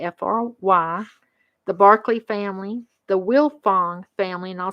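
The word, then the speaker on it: Wilfong: frye family the f-r-y the barkley family the will fong family and i'll spell that one as w-i-l-f-o-n-g and the huffman family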